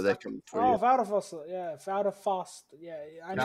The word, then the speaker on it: Vladivostok: I know, like, the V in Russian is supposed to be pronounced as an F. The first part of it looks like Vlad, but I know it's not pronounced Vlad.